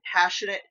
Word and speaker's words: Passionate Kelsey: The tutorial I followed for this is by Passionate Kelsey.